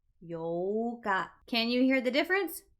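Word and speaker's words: 八日: The 4th is Yoka. Yoka. There is a pause in the middle. The 8th is the exact opposite of that. We lengthen out the O sound. Yoka. Yoka.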